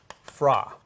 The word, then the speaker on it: FRA: forward rate agreements forward rate agreement which is pronounced fra stingham talks about this and if you talk